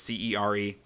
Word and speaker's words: Cere: I don't know how you pronounce her name. It's Cere.